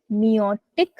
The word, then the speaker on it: meiotic: उसको कह देते हैं मियोटिक डिवीजन, ठीक है। Yes, ma'am. तो वो आई को साइलेंट कर देते एक तरह से, मियोटिक डिवीजन, तो आई को हम बोलते नहीं है, ठीक है।